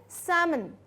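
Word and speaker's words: salmon: सिर्फ इतना बोलते हैं, ये फिल्म नहीं बोलते, इसको बोलते हैं सामन, सामन। ठीक है, एल साइलेंट होता है।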